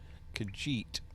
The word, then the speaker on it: Khajiit: How do you pronounce that? Khajiit.